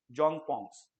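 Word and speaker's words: Dzongpon: D silent है, जोंग पोंग्स, right?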